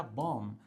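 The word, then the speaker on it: bomb: तो यहां पर आप इसको बॉम्ब नहीं कहेंगे। इसको कहा जाएगा बॉम्ब। राइट? तो बी साइलेंट रहेगा और बाकी हनी सिंह पे ध्यान मत देना।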